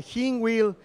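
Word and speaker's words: Hinwil: esta ocasión desde la localidad de jean wild en suiza bueno así fue como me dijo esteban que se pronunciaba así es que si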